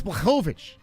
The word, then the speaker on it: Blachowicz: Some people can't say his name. It's Blovich.